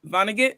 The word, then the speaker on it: Vonnegut: awesome that's so cute wait how do you pronounce it Vonnegut Vonnegut yes Vonnegut asked we love to see